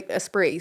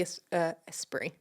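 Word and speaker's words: Esprit: espre espr yeah so espre so you don't pronounce the T no okay the espre earning critical Acclaim and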